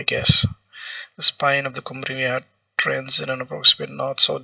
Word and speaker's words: Cumbre Vieja: Because in Spanish they pronounce J as here. Cumbre Vieja. Normally in English we would call it Cumbre Vieja, but I guess this is Cumbre Vieja.